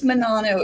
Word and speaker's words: Menanno: It's Menanno. It's Italian, Menanno.